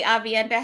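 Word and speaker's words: Aviendha: I mean, like technically, Avienda has a soft H in it. Welsh. Like you're supposed to pronounce that H softly, but we don't put people through that.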